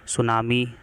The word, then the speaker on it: सुनामी: Flood, landslide, heat wave, सुनामी, cyclone, इस तरह की चीज़ें यहाँ पर आती हैं। ये छिपा हुआ है, देख सकते हैं यहाँ पे साइक्लोन और सुनामी है, इसमें टी साइलेंट रहता है।